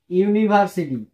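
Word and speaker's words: university: না কেন হবে না দেখো যেমন ইউনিভার্সিটি জি স্যার ইউ ইউনিভার city এখন দেখেন ইউ প্রথম উচ্চারণ কি হছে ইউ হচ্ছে না ইউ এর মত ইউ এর মত হইলে এন আর হবে না না তাইলে কি হবে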